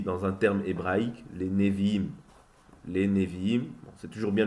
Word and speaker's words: Nevi'im: Et sinon, après, il y a les prophètes qui sont appelés aussi, dans un terme hébraïque, les Nevi'im.